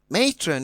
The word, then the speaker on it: matron: on the second syllable, matron is stressed on the first syllable, eager is also stressed on the first syllable.